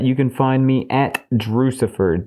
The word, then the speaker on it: Drewxcifer: And on top of that, you can find me at Drewcifer, DREWXCIFER, rhymes with Lucifer, everywhere.